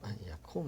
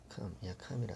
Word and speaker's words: ויקום: 그래서 야콤 했죠. ויקום אברהם 야캄이라 안 했고 야콤이라고 읽었네요.